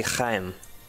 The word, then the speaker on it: Chaim: And his name is actually Chaim. Let me get away, okay. Chaim? His name is Chaim Witz. Wait, what is this? Shiny item. It's spelled C-H-A-I-M.